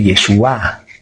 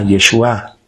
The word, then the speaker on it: Yeshúa: Y en hebreo se dice Yeshua, con acento en la A, Yeshua.